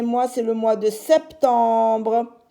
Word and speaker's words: septembre: au mois de septembre septembre S t comme 7 mais là on entend le P septembre T e m